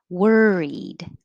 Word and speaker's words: worried: availability availability availability 26 worried it looks like an o but it sounds like an er er worried uh 27 89 30.